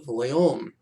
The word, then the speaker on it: Voillaume: And if you saw René Voillaume's name, you would not know how to pronounce it. It's tricky in French. Voillaume.